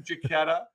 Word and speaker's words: Jachetta: unique and and and mike thank you for pronouncing it correctly oh you're welcome jacketta i gotcha jacquetta i get you okay there we go there